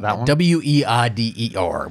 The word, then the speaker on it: Weider: a real favorite of joe white is that how you pronounce it it's whiter w-e-i-d-e-r we're gonna say water he is so he's a favorite of joe wider and joe weider co-founded